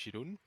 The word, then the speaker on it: Jeroen: Yes, for the people who don't know me, my name is Jeroen. If it's too difficult to pronounce because you're not Dutch and it's a shitty name, you can call me Jerome.